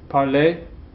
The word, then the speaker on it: parler: That sounds the same as the infinitive. Parler, parler. Okay? The easy ending and the ER ending make the same sound.